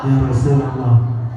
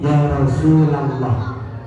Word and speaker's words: Ya Rasulallah: ya tetapi Ya Rasulullah Ya Rasulullah ingat-ingat kalau menyerah jangan membaca Ya Rasulullah tetapi Ya Rasulallah ya Nah terus lagi